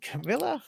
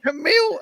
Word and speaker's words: Camille: G'day, Camilla. Hi. Camille. Oh my goodness, Camille. How dare That's I all make right. that mistake? Lots of people make that mistake. I think someone has even pronounced it camel before.